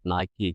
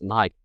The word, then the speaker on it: Nike: And I hear you say it like the Americans say it, Nike. Nike, yeah. And then I go, because my argument always, I go, it's Nike. And people go, no, it's Nike.